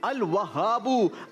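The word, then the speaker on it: الوهاب: थोड़ा सा प्रोनाउंसिएशन दुरुस्त करेंगे। अल क़हारू, अल वहाबू, अल रज़ाकू, अल फत्ताहू। 30 points team the city grammar school.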